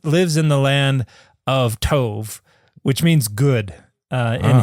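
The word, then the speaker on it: טוב: Well, because tove is spelled tet vav bait. Okay. And a bait can be pronounced as a b or a v. Okay. And so, um here it's it's tove.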